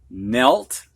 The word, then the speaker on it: knelt: All right, we're going to have words now that have a silent K in them before an N. You don't hear that K. Knee, knelt, knit, knife, knew.